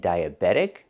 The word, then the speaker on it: diabetic: And we hear that T changing to a fast D. Diabetic, not diabetic, but diabetic.